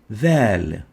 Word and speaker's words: ذال: The name given for إذ is ذال. Say the lamp and then remove the amp. ذال. ذال. In short, إذ is pronounced إذ and is named ذال.